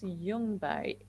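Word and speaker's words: Ljungberg: and business name please my last name is jungbai which is a swedish name which actually means heather mountain and my business name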